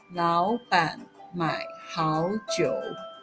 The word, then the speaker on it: 老板买好酒: As a result, the full phrase is pronounced second, third, third, second, third. 老板买好酒.